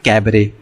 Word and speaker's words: cabaret: Okay, इसकी spelling होती है CABARET, लेकिन T यहाँ पे आपका जो होता है वो क्या होता है? साइलेंट होता है, तो इसलिए इसको हम बोलते हैं कैबरे, राइट।